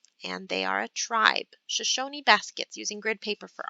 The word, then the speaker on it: Shoshone: explain what you're doing so this word is pronounced shoshone and they are a tribe shoshone baskets using grid paper for art the shoshone